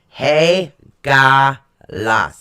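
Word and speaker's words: Hagalaz: Haga lease excuse me hey gah-la so right it's actually spelled h AG a la Z but it's pronounced H a - G aw - la WS right it represents hail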